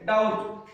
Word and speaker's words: doubt: अब बीटी आ गया, B silent. Date, डाउट।